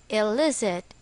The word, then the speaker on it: illicit: is still the same El is it the stress is on the second syllable for our exercise fill